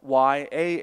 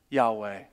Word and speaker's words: Yahweh: where we now have Y-A-H-W-E-H. And we would usually pronounce that as Yahweh, but that's really just an educated guess. No one really knows how to say it.